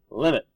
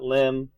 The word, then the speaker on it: limit: help me please mogen you don't actually pronounce announce the abbreviation it stands for something M so limit cosine sign not limb sin and cost or got it all right